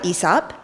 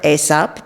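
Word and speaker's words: Aesop: story that is by ESOP or a SUP depending how you say it everyone's correct and it was a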